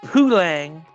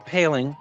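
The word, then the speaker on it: Poulin: then gets it to Poulang, or Paling. That's what we call him in Pittsburgh. It's Paling. In Montreal, he was Poulang, and in Pittsburgh, he's Paling.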